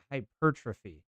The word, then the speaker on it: hypertrophy: they build new muscles I was reading this word and I was like hypertrophy that no that's not the word now how you pronounce that is hypertrophy yeah yep that's what it is that's the word I